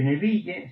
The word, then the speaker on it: Neville: ¿Sabéis que se escribe Neville? Se pronuncia más o menos Nevil, Orman Nevil.